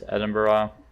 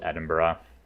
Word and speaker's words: Edinburgh: to pres prevent me from sieging Retreat and Edinburgh don't know why they give it that spelling um that is not how it's spelled it is like a little more intuitive